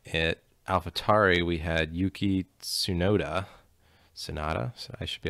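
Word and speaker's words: Tsunoda: alphatari we had yuki sunoda sonata so i should be able to say these japanese names having closed working at toyota but sonoda i believe is how you'd pronounce that he's replacing danny fiat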